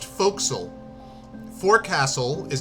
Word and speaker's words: forecastle: right how you spell f-o-r-e-c-a-s-l-t Ock yep that's pronounced folksel Ford Castle is not pronounced Forecastle it's pronounced folksel foxel oh God greater root nail that's great I'm